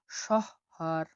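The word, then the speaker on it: shahar: পরবর্তী শব্দ দেখুন এস এইচ, এই ওয়ার্ডটি খুব পাবেন, এস এইচ উচ্চারণ হয়ে থাকে তালিবা শ এর মতো। উদাহরণ আমি দেখছি দেখুন, শহর, শহর, শহর মানে হলো শহর, শহর মানে শহর।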